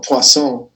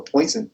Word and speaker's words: Poisson: I know if you want, you could be like that guy from 2 semesters ago, Poisson. I know, Poisson. I hate it when people mispronounce basic French words, the same kind of